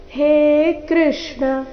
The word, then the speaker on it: ಕೃಷ್ಣ: ಕೃಷ್ಣ ಈ ರೀತಿ ಕೃಷ್ಣ ಕೃ ಅನ್ನ ದೀರ್ಘ ಮಾಡಬಾರದು ಹೇ ಅಕ್ಷರವನ್ನು ದೀರ್ಘ ಹೇಳಬೇಕು ಹೇ ಕೃಷ್ಣ ಹೇ ಕೃಷ್ಣ ಹೇ ಯಾದವ